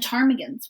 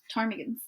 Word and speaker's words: ptarmigans: And they have like swans and snow geese and ptarmigans, which start with a P, but are pronounced ptarmigans.